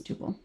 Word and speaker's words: tuple: So I would say tuple, but yeah, it's tuple. Okay. It's okay. We can argue about pronunciation all day.